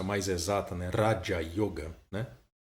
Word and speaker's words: Raja Yoga: Raja Yoga, né? O R sempre pronunciado dessa forma mais vibrante, né?